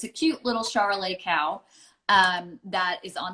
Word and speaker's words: charolais: of mixed or it kind of rhymes with the with the the grape chardonnay um we grow chardonnay